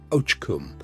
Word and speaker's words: oakum: put to work picking oakum, pronounced "och-kum", which meant unraveling old tarred ropes by hand hour after hour until your fingers bled.